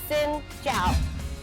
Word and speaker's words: Xin chào: Okay, so it is Xin Chào.